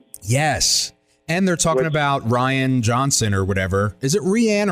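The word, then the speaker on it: Rian Johnson: No, it's Ryan Johnson.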